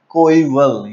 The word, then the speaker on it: coeval: हाउ to pronounce this word, the pronunciation of this word is कोईवल। Yes guys you heard it right, it's कोईवल।